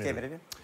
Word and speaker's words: Кемерове: В Кемерове, правильно говорить, Кемерове.